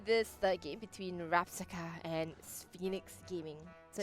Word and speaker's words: SPHOENIX: SPHOENIX. So I've got to remember Alright. that and pronounce it properly.